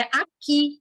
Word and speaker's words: aqui: A palavra aqui não tem ditongo, porque ninguém fala nem escuta aqui. Não é aqui, é aqui. O U é mudo.